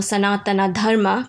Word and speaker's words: Sanatana Dharma: In the case of Sanatan Dharma or Sanatana Dharma, pronounced in Sanskrit, yoga's origin and framework, the Hindu lineages, which we call our sampradayas.